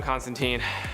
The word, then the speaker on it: Constantine: As I mentioned in a previous video, I know in the original source material it's pronounced Constantine, but in all of his live action appearances and animated appearances, he's referred to as Constantine, and honestly that's just kind of the preferred pronunciation nowadays.